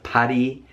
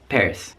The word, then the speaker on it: Paris: Or maybe you want to take a trip to Paris, France, not Paris, just Paris.